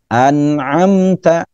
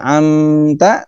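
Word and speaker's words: أنعمت: An'amta, an'amta, nah, an'amta. Oke, tidak dibaca amta, tidak dibaca amta, tapi an'amta.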